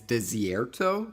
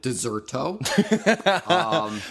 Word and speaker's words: Desierto: I do also want to note, I did pronounce the name wrong. It is Desierto and not Desierto.